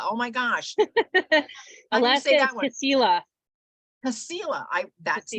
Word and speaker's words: Kasilof: Alaska is Kasilof. Kasilof. That's Kasilof, not how Alaska. I would pronounce that.